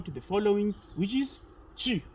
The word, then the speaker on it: tu: It is not tu, but it is tu. Okay, for example, if you know this English word that is stew, if you remove an s from stew, it means you are left with tu. That's the correct pronunciation of the word tu.